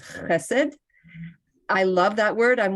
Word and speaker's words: Hesed: It's a hard word for many people who don't speak Hebrew to start off and say it correctly, which is Hesed.